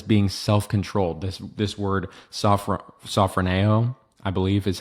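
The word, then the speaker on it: σωφρονέω: This word sophroneo, I believe is how you say it. I hope I'm not saying it wrong. It's it's sophroneo. Sorry, no, sophroneo. Yeah, sophroneo.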